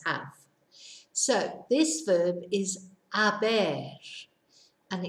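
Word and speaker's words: haber: so this verb is a bear and it's spelt H a b e so it looks like it should be habit but of course we don't pronounce it h so it's a bear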